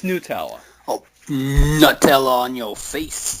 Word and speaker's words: Nutella: Yeah, I've been saying Nutella. Uh, yeah, cuz I thought it's made from nuts. Nutella, right? No, apparently it's Nutella.